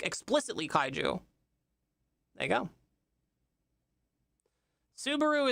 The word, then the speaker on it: Subaru: Subaru is Japanese and rhymes with kaiju and lesbians live to ride them.